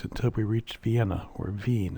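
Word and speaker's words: Wien: we reached Vienna or Vine as it's pronounced in German we took a self-guided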